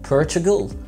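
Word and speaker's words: Portugal: عندنا في كمان دوله في اوروبا نطقها صعب علينا شويه وهي البرتغال، بالانجلش بنقول عليها بورتوغال بورتوغال بورتوغال، والجنسيه بورتوغيز بورتوغيز Portuguese.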